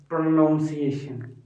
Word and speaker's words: pronunciation: So there are two ways that most of the people use to say this word. Some say pronunciation and some say pronunciation. And the correct version, the correct pronunciation of this word, I have already told you, it's pronunciation. Pronunciation.